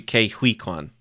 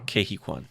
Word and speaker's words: Ke Huy Quan: His name is if I'm pronouncing it right, it's No, it might be Ke Huy Quan. Uh-huh. Ke Huy Quan, I think is how you say it.